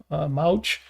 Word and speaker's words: Mouch: Mouch, it's funny because a lot of people will pronounce that mooch, which kind of makes sense, even though it's not how that's pronounced.